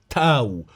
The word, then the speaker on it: تاو: عند مراجعة النطق الصيني للاسم تاو تي تشينغ وجدت ان النطق الصيني يستخدم صوت حرف التاء وليس الطاء او الدال، وبالتالي فالنطق الاصح للكلمة هو تاو، والنطق الاصح لاسم الديانة هو التاوية.